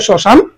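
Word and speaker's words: শ্মশান: আনুনাসিক হবে নাসিক্য হবে যেমন দেখ শশান এখানে স এর নিচে ম আছে কিন্তু উচ্চারণ হছে শশান স্মৃতি এখানে ম উচ্চারণ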